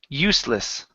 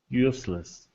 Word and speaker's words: useless: here so first up this s is actually an unvoiced S so instead of saying usess it's usless so this e is silent okay the S is unvoiced useless useless okay good so um